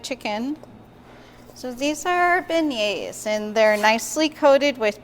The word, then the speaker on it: beignet: So these are our beignets, and they're nicely coated with powdered sugar. And it's a nice New Orleans favorite. And remember, when you're pronouncing beignet, don't pronounce the T.